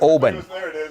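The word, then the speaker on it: Oban: what are we celebrating we're drinking yes exactly Obin Obin yes my favorite uncle is in Obin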